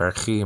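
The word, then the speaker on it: ἀρχή: Arche, nowadays pronounced archi, modern Greek, alpha ro, chi, eta, nowadays called eta, like I said before.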